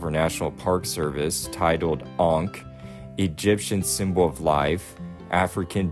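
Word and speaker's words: ankh: what's considered to be the ank and that's how you say it it's spelled a n k h and I want to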